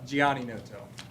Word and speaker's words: Giannotto: Giannotto? Is that even close? Mr. Well, it doesn't say Mr. but that would have made it a lot easier. Please pronounce it for me. It's Gianni Noto.